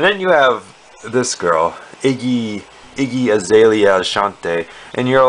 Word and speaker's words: Iggy: comments one thing about izzy can you tell can you i said the name wrong too iggy iggy like a lizard exactly you can't tell